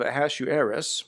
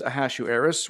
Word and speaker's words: Ahasuerus: in the days of a hasshu heiress that's how it's pronounced to hasshu heiress this is a hasshu heiress which reigned from india